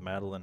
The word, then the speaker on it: Madeline: And then an E is a silent E because Madeline has a silent E at the end.